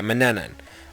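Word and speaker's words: Manannan: no wait man yeah Manan a lot of people uh don't know how to pronounce it it's Manan okay one of the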